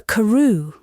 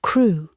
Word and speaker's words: Crewe: Madame Pascal pronounced it as if it were Karu instead of crew, but that might be merely a matter of pronunciation.